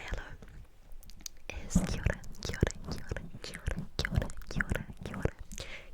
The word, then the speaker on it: kia ora: kia ora, kia ora, and it's spelled K-I-A, kia ora, kia ora, and it's two words, but it's pronounced as one, and it kind of just rolls off your tongue, kia ora, kia ora, kia ora.